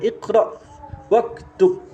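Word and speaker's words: اقرأ واكتب: ada kata perintah ya bacanya iqra waktub iqra waktub iqra ini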